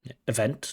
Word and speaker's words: event: will be like mus event not Event Event stress on the second syllable event dancing but then